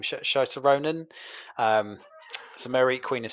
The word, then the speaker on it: Saoirse Ronan: It is Mary Queen of Scots, uh, played by uh, I can never pronounce her name. Saoirse Ronan.